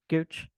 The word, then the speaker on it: Gooch: Gooch.